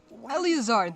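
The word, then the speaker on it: Eleazar: Elazar, that's how you say his name.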